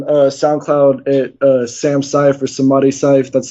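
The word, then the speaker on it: Samadhi Cyph: All my solo tapes you can find on SoundCloud at Sam Syph or Samadhi Syph. That's spelled SAMADHI space CYPH.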